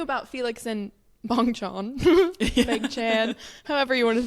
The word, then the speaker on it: Bang Chan: I was talking about bong Chan and Rachel died and she was like you mean bangchan and I was like no bang Chan which I think that you're right like that's how you say it but I just